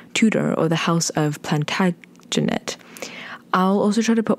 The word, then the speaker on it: Plantagenet: in future ones and also just some quick pronunciation it is Plantagenet in terms of the houses and it's called